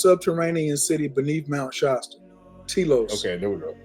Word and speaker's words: Telos: Telos. Okay, there we go. Mount Telios. Yeah, Telos. Yeah. Telos. I said Telios.